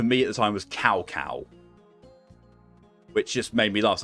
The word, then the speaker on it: Cao Cao: You know, it took me years on to learn that the name's actually pronounced Cao Cao, which makes a lot more sense and sounds a lot less silly.